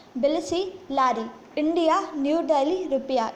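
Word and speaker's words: Tbilisi: next है Cyprus Nicosia euro, Georgia बिलसी लारी, बिलसी में टी एस का क्या है, साइलेंट है, तो बिलसी लारी, इंडिया न्यू दिल्ली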